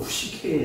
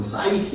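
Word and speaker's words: ψυχή: 푸시합니다 이게 이제 그 그리서 발음으로 푸시케 그래요 그래서 이제 뭐 사이케 이렇게는게 아닙니다 푸시는데 그래서 아주 오래전에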